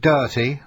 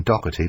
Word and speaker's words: Doherty: Pete Doherty, I don't know why people pronounce his name Doherty, because he hasn't got a C in it, but anyway, Doherty or Doherty, you will know.